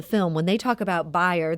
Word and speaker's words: Bayer: And as they're referring to in that clip from the film, when they talk about Bayer, that's actually the correct German pronunciation of Bayer, which now owns our local company Monsanto.